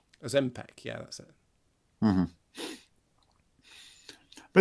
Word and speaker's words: Ozempic: Ozempic, is that how you pronounce it? Yeah. I don't know. It was just a... Ozempic, yeah, that's it.